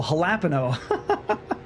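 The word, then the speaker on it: jalapeño: And like, "No, the the J is like a H." Oh, halapeno.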